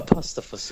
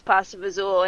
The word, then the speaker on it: pasta fagioli: One of the specials on the board was pasta fazool, and he was like, how do you pronounce that word? And I was like, what pasta fazool? Because it looks like pasta fagioli. Wait, that's fazool?